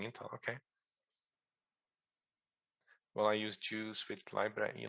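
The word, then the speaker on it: JeOS: I use Raspberry Pi, use LibreLect that uses EOS, but that's mostly just an image we call it Juice, like just enough operating system. So now you know how to say it.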